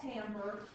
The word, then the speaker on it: timbre: So we've worked our way all the way to something called timbre. I know it doesn't sound like you're supposed, it doesn't look like you're supposed to say it that way, but T-I-M-B-R-E is pronounced timbre.